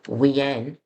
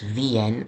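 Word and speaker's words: Wien: city of Vienna so w i en pronounced vien is the way they say it in German happen to know that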